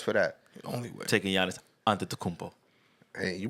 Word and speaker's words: Giannis Antetokounmpo: Taking Giannis Antetokounmpo. Hey, you pronounced it right.